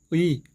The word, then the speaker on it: 의: 으, 이, 으, 이, 으, 이, 으, 이, 의, 의, 의, 의, 의, 의, 의, 의.